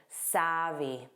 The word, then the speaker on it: savvy: Notice that pronunciation? Avy, a long A, savvy.